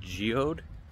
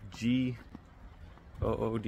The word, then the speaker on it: Goode: so let's get after I'm pretty sure it's pronounced good Park so uh apologies for